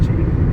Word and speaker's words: Cheney: I think it's pronounced Cheney. It's There's no A.